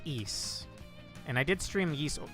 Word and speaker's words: Ys: You might be confused due to my pronunciation, but the games are called ease. It's spelled YS, so you would think wise, but it's ease.